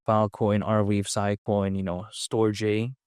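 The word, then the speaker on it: Storj: narrative of decentralizing data storage, yeah, sure, some other projects out there like Filecoin, Arweave, Sicoin, StoreJ, spelled like Store J. Some people call it storage, whatever.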